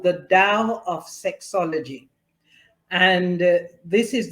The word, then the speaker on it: Tao: The Tao of sexology it's actually spelled t-a-o but it's pronounced Dao so the Tao of